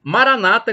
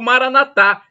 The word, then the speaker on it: Maranata: do impossível o e Maranata como dizem os protestantes evangélicos Maranata com a tônica na penúltima sirva-o Maranatha como dizem os católicos com a tônica na última sílaba não importa o significado